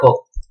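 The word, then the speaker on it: Koch: और यहां पर साइंटिस्ट थे रॉबर्ट कॉक। कई लोग रॉबर्ट कोच भी प्रोनाउंस करते हैं इसको, जो आप बोलना चाहें।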